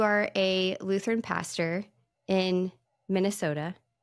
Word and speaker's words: Minnesota: Well, I know that you are a Lutheran pastor in Minnesota, right? Yeah. You have to say it like this, though. Minnesota. Minnesota. That's right. Minnesota. You got to kind of draw that last bit out.